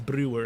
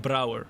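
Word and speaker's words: Brouwer: Although you say it like Brower, you know. My name is Brower, not Brewer. Although it's fine if you say it like that. That's kind of I guess the English way of saying it.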